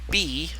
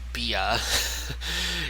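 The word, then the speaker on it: Bea: And then we have B, or as I initially announced her or pronounced her as Bia. It's just simply B, which kind of doesn't exactly make sense when her name is spelled B-E-A.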